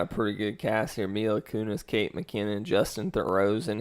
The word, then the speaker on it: Mila Kunis: comedies and yes it's Mila Kunis that's how you pronounce it she's really problem she's